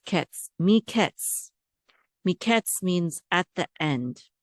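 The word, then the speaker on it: מקץ: Altogether, the syllable says ketz. Miketz.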